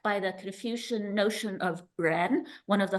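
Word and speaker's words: 仁: the Confucian notion of Ren, one of the 5 virtues, which means humaneness, right? And it's pronounced the same as Ren, human being.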